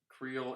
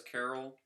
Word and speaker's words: Creole: Have you ever heard anybody say Creole as Carol? Who has she heard say Creole as Carol? Am I Am I just the crazy one? Am I just missing the true pronunciation of that?